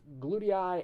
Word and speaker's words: glutei: this particular person is glutei and nuclei. Now these are 3-syllable words, and the 2-letter phonogram EI would not be used here.